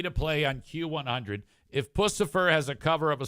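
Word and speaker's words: Puscifer: So now it'll be perfect coming out of my mouth because I know what it's pronounced. Pucifer. If you suggest a song for me to play on Q100, if Pucifer has a cover of a song and it's good, I'll play it.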